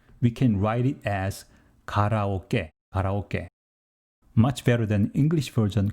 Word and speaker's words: karaoke: kara in english but true japanese pronunciation is close to g here is what it should